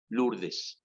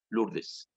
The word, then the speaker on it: Lourdes: Lourdes. O-U es diptongo francés, se pronuncia U. Lourdes. Lourdes.